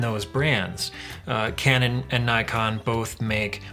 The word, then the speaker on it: Nikon: Uh Canon and Nikon both make or Nikon as it's pronounced around the world except for the US uh have mirrorless as well as point andoot as well as DSLR platforms.